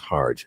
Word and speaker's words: Harj: to make sure that you guys know it's pronounced hard okay all right we'll be right back bulletin